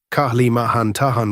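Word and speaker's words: Kalimantan: place, risk equals normal, Kahlimahan Tahan river site, stress second syllable, Kahlimahan Tan, place, risk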